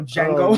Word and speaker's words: Django: Where it's like the D is silent, so Django no.